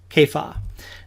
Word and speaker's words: Kepha: in the New Testament Kaya now that may not be the pronunciation we're accustomed to we read in John